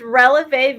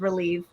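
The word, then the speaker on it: Relevé: how to say it so it's relev vintage but everybody says relieve so it's a ballet term but it is is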